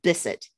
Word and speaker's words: Bisset: meant to ask you and forgot i said bisset is that right or is it that's perfect